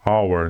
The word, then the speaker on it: hour: Nesse caso da palavra hour, hora em inglês, o H é mudo. E a palavra tem som de vogal, hour.